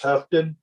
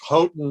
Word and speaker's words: Houghton: the csa hunting alternative keith has it pronounced huffton i told the flight attendant for 30 years that it's houghton like floating and they could remember